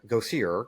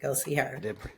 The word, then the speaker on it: Gosier: Go see her. Correct. Yes, correct. Go see her. I pronounce that correct.